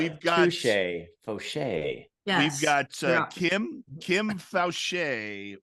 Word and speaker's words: Faucher: Faucher? So Kim. It's the French pronunciation, and you barely screwed it up because I've had it said on an overhead speaker in the worst possible way.